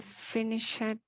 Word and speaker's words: finished: You must put the finished proposal on my desk tomorrow. Very good. Pronunciation, this is finished. Finished. It sounds like a T.